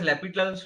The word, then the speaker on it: L'Hospital: Now, this is called as L'Hospital's rule. H is silent.